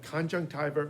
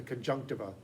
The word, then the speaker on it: conjunctiva: That's the conjunctiva or the conjunctiva. Both pronunciations are allowable. Conjunctiva is the classic Latin pronunciation.